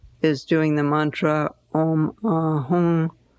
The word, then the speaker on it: Hum: And probably the most simple one is doing the mantra Om Ahum Benza Guru Pema Siddhi Hum. Om Ahum can be spelled H-U-M or H-U-N-G.